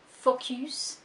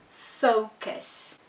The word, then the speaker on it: focus: The pronunciation of this word is focus. Focus. Not focus. Focus. So remember that you need to stress the first syllable, and that's going to happen with most two-syllable words.